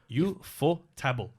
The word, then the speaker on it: Ufotable: Ufotable.